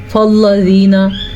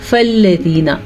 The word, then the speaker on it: فَالَّذِينَ: لام کو موٹا کر کے پڑھتے ہیں، یعنی کہ فَالَّذِينَ. لام کسی بھی صورت میں موٹا نہیں پڑھا جاتا، خواہ اس کے اوپر زبر ہو، زیر ہو، پیش ہو، کچھ بھی ہو، لام موٹا ہی نہیں پڑھا جاتا. لام کو ہمیشہ باریک پڑھتے ہیں.